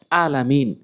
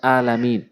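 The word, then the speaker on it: العالمين: লোক ভুল করে থাকে বলে আলামিন বলতে হবে আলামিন বলেন আলামিন উচ্চারণ হবে না এই হামজা এনে উচ্চারণ করে উচ্চারণ করতে হবে আইনে এনে হামজা জবর আইন জবর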